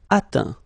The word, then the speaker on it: atteint: Atteindre, atteint. Éteindre, éteint. Feindre, feint. Peindre, peint. Teindre, teint. Okay, as usual, final T not pronounced. Atteint, éteint, feint, peint, teint.